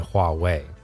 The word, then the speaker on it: Huawei: Because incumbents like Li Auto are being squeezed by tech giants like Xiaomi and Huawei. Notice I did pronounce those two brand names correctly. Do you know why that is?